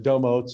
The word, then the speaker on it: Domotz: domats is a uh domos is really how we pronounce it with long o's but uh domos is